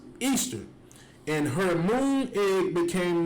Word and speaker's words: Ishtar: Saranzes became known as Ishtar, which is pronounced Easter, and her moon egg became known as Ishtar's egg.